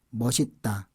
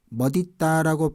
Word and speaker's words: 멋있다: 외모에 대한 어휘를 공부합니다 머시따 머시따 있어요 2b 앤섬 머시따 머시따 인데요 멋 있다라고 발음 해도 됩니다 멋 있다 멋 있다라고 발음이 도 되고 머시따 라고 해도 됩니다 머시따 멋 이 딱